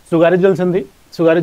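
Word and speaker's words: Tsugaru: सुगारू यहाँ T silent होता है जापान में, तो सुनामी इशू है, ठीक है।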